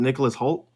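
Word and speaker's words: Nicholas Hoult: Is it Nicholas Holt? Yes, there you go. Good job. Yeah. Yeah, that's Renfield. I'm There's excited some for people I that. know in this. I like Nicholas Holt as an actor, so I'm excited for that.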